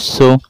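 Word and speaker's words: ث: আর ছন্দে ছন্দে আমরা বলি, সা অক্ষর জিহ্বার আগা থেকে নরম করে পড়তে হয়। সা জবর সা, সা জের সি, সা পেশ সু, সা সি সু, সা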